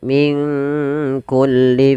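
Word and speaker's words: من كل: Kemudian min kulli fakihatin zaujan. Nun mati ketemu kaf. Di sini kita namakan dengan bacaan ikhfa. Maka cara membacanya samarkan nunnya kepada huruf kaf.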